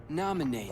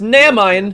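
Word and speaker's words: Naminé: only Nominee that you're looking for. It's pronounced Namine.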